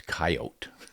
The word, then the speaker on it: coyote: on up it's coyote no it's coyote but I know I've got one friend who calls him coats yeah he's got it's just abbreviated coyote we don't want to make it too many syllables we'll just go C